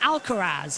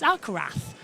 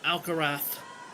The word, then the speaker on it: Alcaraz: But it's you don't pronounce Zed. It's Alcarath. It's Spanish. Proper proper pronunciation being Alcarath.